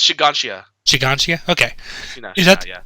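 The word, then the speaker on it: Shiganshina: One branch of the family that's moved to Shina district. Is that the one that got overrun by... It's pronounced Shiganshia.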